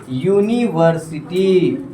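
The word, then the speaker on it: university: यूनिवर्सिटी नहीं पढ़ रहे, यूनिवर्सिटी पढ़ रहे, यूनी, ऊनी नहीं, यू, यूनिवर्सिटी, यूनिवर्सिटी। जरा ध्यान देंगे, अब यहाँ अंतस्थ्य आ गया। क्या आ गया? अब अंतस्थ्य हमारा क्या है? कॉन्सोनेंट साउंड है। क्या है बोलिए? वाई का साउंड दे रहा है।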